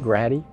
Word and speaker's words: Grady: of private john grady his family pronounces it grati of duplin county who